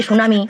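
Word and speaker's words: tsunami: হচ্ছে এই ঘূর্ণিঝড় এইযে সুনামি আর মনে রাখবে আমাকে বলছে বুঝলে মনে রাখবে মা সুনামিতে যেমন টিটা উচ্চারণ হয় না ঠিক সেরকম যতদিন পূজো চলবে ততদিন পড়তে বসবো।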